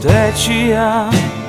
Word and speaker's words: течія: я сильніше та часу течія Нестримна течія течії наголошуються на перший склад лише в множині а в однині ні всі відмінки цього слова мають наголос на кінець течія хвилями хвилями я